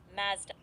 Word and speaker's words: Mazda: The car company Mazda is commonly pronounced as Mazda. Wait, you cut out there. Can you repeat that? Of course. The car company Mazda is commonly pronounced as Mazda with a short a sound, rhyming with has.